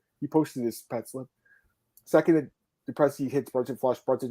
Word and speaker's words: Du Plessis: Du Plessis, the S is silent.